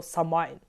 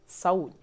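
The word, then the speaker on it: Samhain: без літери H і а насправді Та це слово з ірландською саме читається як саунь там зв'язка букв читається не так як в англійській мові звідти ми з вами маємо викривлену назву цього свята і тепер ця назва у нас максимально прожилася правильно називати це свято саун Ми звикли що чаклунство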